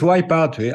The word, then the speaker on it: Wipeout: How do you pronounce it? In fact, it's Wipeout.